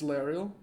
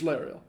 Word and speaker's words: Lariel: Well, I mean, except for the part that you've been pronouncing it wrong this whole time. According to the memory that I saw, it's Lariel. It's Lariel. His name's Lariel.